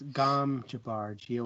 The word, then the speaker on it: Gom Jabbar: The Gom Jabbar, So it's Gom Jabbar, Mhm. Gomjabbar Yeah. is you spell it.